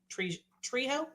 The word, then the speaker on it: Trejo: Did enjoy Danny Trejo's. Trejo? Trios?